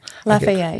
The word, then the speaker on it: Lafayette: Um Lafayette. Did I say that right? Cuz you know if I say it wrong. Lafayette.